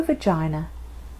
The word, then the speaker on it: vagina: She has a little opening called a vagina, which rhymes with Carolina.